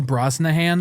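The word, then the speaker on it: Brosnahan: Rachel Broznahan.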